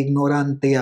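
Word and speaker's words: ignorantia: बोला यार ये क्या बोल दिया इन्होंने, यही है उसकी करेक्ट प्रोनाउंसिएशन, लैटिन में ट नहीं होता त होता है, it actually sounds like very Hindi, it's like फाक्ते इग्नोरांतिया, इग्नोरांतिया juris non एक्सक्यूजात।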